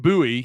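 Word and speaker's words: Buie: a few attempts uh kim kim bowie i think i'm pronouncing that right b-u-i-e says 17 dunks will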